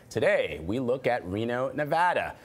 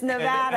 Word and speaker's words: Nevada: You're going to run for office, Nevada. An extended discussion. Do not say it, Nevada. Right. Has the president said it correctly? Well, yeah, he takes a lot of heat for not saying it correctly.